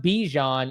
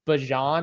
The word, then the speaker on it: Bijan: If he tells me how to pronounce his name correctly, like how Bijan came on and said, my name's not Bijan, it's Bijan or whatever he said.